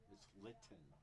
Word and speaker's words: Linton: Linton, correct?